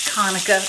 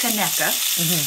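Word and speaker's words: Conecuh: kameka koneca c-o-n-e-c-u-h and some people think it's konica but it's pronounced kaneka and it's a wonderful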